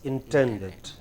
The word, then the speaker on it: intended: intended as intended yes the stress is on 10 as intended as intended you you you know